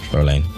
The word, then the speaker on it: Fräulein: Because I think I'm pronouncing it wrong. Just tell me how to say Fräulein. Fräulein.